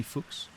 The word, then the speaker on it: Fuchs: Could be easily pronounced Fuchs Sports, but it's definitely Fuchs.